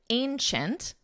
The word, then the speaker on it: ancient: Coliseum is the largest ancient notice the pronunciation Ancient Ancient Ancient and it's a very nasal a sound a a Ancient Ancient the largest